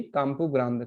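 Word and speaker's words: Campo Grande: आप लोगों ने मेट्रो में देखा होगा काम्पू ग्रांड, है ना, तो उसका उच्चारण है सही काम्पू ग्रांड, काम्पू ग्रांडे नहीं, है ना।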